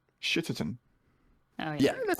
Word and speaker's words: Shitterton: I mean, I will say it's not in London, so you need to pronounce the T's. Shitterton.